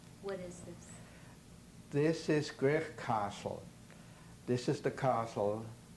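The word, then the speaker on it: Gwrych: Grech Castle is spelled G-W-R-Y-C-H. Grech Castle, which is a Welsh name for bush, bushy castle, actually.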